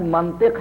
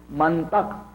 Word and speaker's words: منطق: تھا کہ منطق سے لفظ منطق ہے عزیزوں، منطق نہیں ہے۔ یہ بھی عرض کر دوں، یہ محلی لہجے ہیں، بہت سے لوگ منطق توئے کے زبر کے ساتھ استعمال کرتے ہیں، یہ غلط ہے۔ منطق ہے، علم منطق